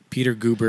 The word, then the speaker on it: Peter Guber: Yeah, there's like Peter Goober.